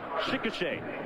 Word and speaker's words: Chickasha: That's how you say it. Chickasha.